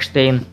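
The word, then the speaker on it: Stein: был и есть mark spain иногда его производство произносят фамилию как штейн который в общем то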